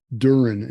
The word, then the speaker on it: Duren: And so my name is not spelled, my last name is not spelled like an 80s hair band. It's Duren, it's very German.